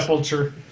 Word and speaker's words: Sepulcher: Did I pronounce that right? Yeah. Awesome. Because I always call it did it. Sepulcher.